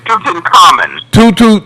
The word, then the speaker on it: Tutankhamun: because you Pronunciation. Tutankhamun.